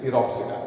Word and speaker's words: Pteropsida: Here P is silent. So it is Pteropsida.